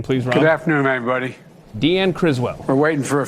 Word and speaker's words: Deanne: Now, you got to say Deanne. And I will say that That's 2 syllables.